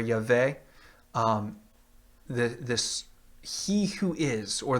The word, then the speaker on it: Yahweh: to pronounce it, but many today will pronounce it with an A and a W, or an A and an E sounds, which becomes Yahweh or Yahweh.